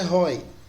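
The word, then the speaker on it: οἱ: O nominativo é roi. Por que roi? Porque em cima do iota lá tem uma aspiração áspera. Então a pronúncia é roi.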